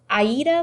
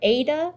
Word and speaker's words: Aida: is called I checked it's pronounced Aida like the musical or Ada it kind of depends